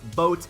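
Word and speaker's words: Bote: to say his name it's not bode it is boats Kris Bryant's going the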